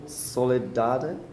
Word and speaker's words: Soledade: Our last guests for today's stream here from Essen, the designers of Nippon, I will not pronounce it correctly, Paulo, Soledade.